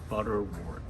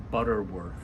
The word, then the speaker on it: butterwort: who played the part he actually mispronounced it he called it butterworth anyway it was quite